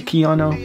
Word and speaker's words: Kayano: the amazing A6 gel Koo 14s is that's how you say it I've heard people say Keo and K but it's spelled k a y a n o someone say Keo 14s